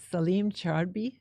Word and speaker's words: Salim Chraibi: Yes, And it's Salim Chraibi.